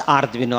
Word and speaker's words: Arduino: board called as Arduino Arduino is a Italian word. So Italian or Arduino. So that is why we are going to pronounce it as Arduino.